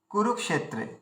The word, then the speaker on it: কুরুক্ষেত্রে: তারপরে কি আছে, কুরুক্ষেত্রে, কুরুক্ষেত্রে কয় হস্যু রয়েছে, তাহলে প্রথমটা আমাদের হস্য উচ্চারণ করতে হবে, হর্ষ উচ্চারণ করতে হবে। তাহলে কুরু, কুরুটা কুরু বলে দীর্ঘ করতে হবে, কুরুক, কুরুক, কুরুক ক্ষেত্রে, কুরুক্ষেত্রে, কুরুক্ষেত্রে, এই যে কুরুক বলছি, এতে কুটা হস্য হয়ে গেল, রুটা দীর্ঘ হয়ে গেল।